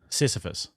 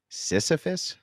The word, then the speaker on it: Sisyphus: Sisyphus. Sisyphus?